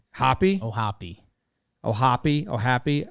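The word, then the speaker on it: O'Hoppe: baiting james into that that's what the pronunciation says and that's what i thought it was ohapi well he i was when this broke uh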